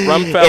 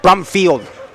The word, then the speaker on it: Brumfield: How How you call him Brumfield? Is it Rumfeld? It's Brumfield. Brumfield? Yes, Brumfield. I can't pronounce anything. No, no, you're good, sir. Brumfield. I did I forgot the B.